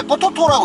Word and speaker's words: PTT: 태국에서 기름 넣을 때 가장 많이 보이는 그 주유소 중에 하난데 이걸 태국인들 읽을 때 포토라고 읽어요. 뽀토토.이 PTT 태국인들이 얘기하는 포토.